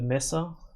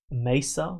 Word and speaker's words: Mesa: fluff video is like, "This guy can't pronounce me. He keeps saying Messa. I'm in Australia. We say things that way. It's just many people here would say Mesa."